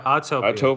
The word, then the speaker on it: Autopia: Yeah, Autopia.